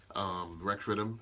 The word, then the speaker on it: Riddem: Okay, it's Riddem of that wickedness. Riddem of that wickedness. That's why it's spelled that way, right?